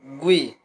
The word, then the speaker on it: GUI: Modern operating systems use a graphical user interface or GUI, pronounced GUI.